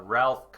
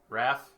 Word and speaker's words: Raph: it was check uh Ralph CER Raph Raph not Ralph I think it's Raph